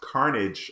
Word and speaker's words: Carnac: the stream we got Carnac I think I said that right hopefully I missed the stream on Monday and by the way my name is pronounced carnage okay well there we